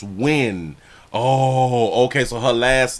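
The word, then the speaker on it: Nguyen: high already pimp so not um ngn is pronounced when oh okay so her last name is when that's how you pronounce it all right bam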